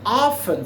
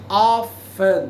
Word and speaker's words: often: A place where, um lugar onde ela frequentemente, a place where she often, frequentemente, often, tá pessoal? Algumas pessoas falam often, mas often seria correto, portanto tem uma silent letter.